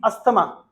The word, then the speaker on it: asthma: No, there is a disease, asthma. It is not asthma. What is the real right pronunciation?